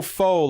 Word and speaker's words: faux: Oh, faux, like French? Faux? Faux is just pronounced faux, by the way, and it just means fake.